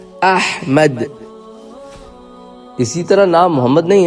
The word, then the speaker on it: احمد: الف ہے میم دال۔ وہ احمد نہیں ہے، وہ احمد بھی نہیں ہے، وہ ہے احمد۔ اسی طرح نام محمد